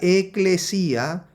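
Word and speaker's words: ἐκκλησία: Esta palabra eclesía es el 1577, se pronuncia eclesía, que significa llamar fuera,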